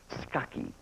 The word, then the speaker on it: Scacchi: We checked with her today, and apparently it's pronounced Scacchi.